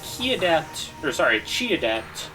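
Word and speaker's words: Qi Adept: And if the unit is Chi Adept is how it's pronounced.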